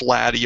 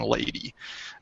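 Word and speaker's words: LADEE: and dust environment Explorer ladi and it is pronounced laddie arbitrarily rather than lady don't ask me why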